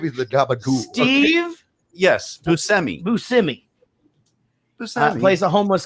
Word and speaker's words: Buscemi: Buscemi. That's it. No. Bushimi. Bruschetta. Machete. Garbanzo bread. Garbanzo. Parmigiano. Parmesan. Oregano. Rosemary. Gabagool. Gabba Gabba. Give me the gabagool. Steve Yes. Buscemi.